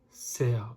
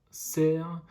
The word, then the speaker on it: cerf: pouces une balançoire un cerf volant attention le f ne se prononcent pas il n'est mû est un magicien une perceuse un cerf là aussi le f